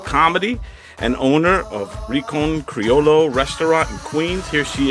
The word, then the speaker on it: Criollo: I want to do it It's like if right. it was a Y. Criollo.